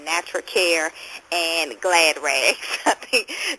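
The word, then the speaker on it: Natracare: try to find some products natur natural and that's spelled n a t r a c a r e natural care and glass Rags I think that's a cute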